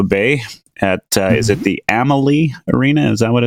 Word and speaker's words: Amalie: at is it the Amalie arena is that what it's called yep pronounced Emily Emily yeah the Amalie arena